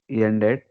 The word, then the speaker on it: end: End, ended. Test, Not end. tested. Don't bring that Y sound at the beginning. It is end. A sound should come. End.